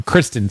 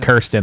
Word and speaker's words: Kristen: Yeah, I think I said her name wrong. Kristen Stewart. Yeah. Yeah, I said Kirsten. Like Kirsten like like Kirsten Dun. Kristen Stewart.